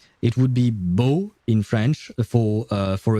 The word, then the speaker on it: beau: Like, it would be bo in French. For uh for a dude it would be bo written B E A U and bell uh for